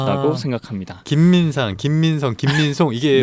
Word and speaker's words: 김민상: 어떤 사람들이 제 이름을 물어보시면 아 이름이 어떻게 되세요? 아, 김민상입니다 라고 하면 김민성이요? 김민송이요?